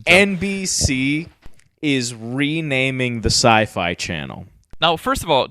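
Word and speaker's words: Syfy: it's so sci-fi yes is now being renamed CFE no it's it it's spelled phonetically Sy yfy why so it's still sci-fi but my goodness and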